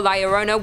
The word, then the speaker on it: La Llorona: Hailing from Hispanic folklore, La Llorona, which I'm pronouncing correctly now after you guys yelled at me in a previous video, is also known as the Wailing Woman or even the Crier.